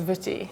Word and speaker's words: Wutty: And his first name is Wutty, which is pronounced like as if the W is a V.